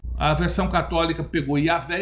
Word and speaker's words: Yahvé: A BJ Yahvé porque segundo estudios seria a pronúncia mais próxima do nome de Deus. Yaré. Não se tem certeza, mas é muito aceito. A versão católica pegou Yahvé e a portuguesou Javé.